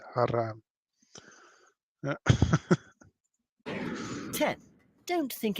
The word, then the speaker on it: haram: It's haram.